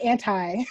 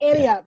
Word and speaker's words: Ante Up: Yeah, And I say it like that because it's not anti, right? It's yeah, Ante Up, the famous yeah, poker.